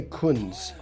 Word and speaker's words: Kunz: do you say it it's Kun it's like the and last names is German so it's in